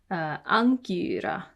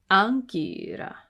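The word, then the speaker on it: ἄγκυρα: And this one is unk. Unk. Ankyra. Ankyra.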